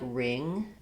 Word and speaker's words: wring: We see this WR phenomenon in other words like ring and wrench, where the W is silent, and they followed a similar pattern and progression from the r to r.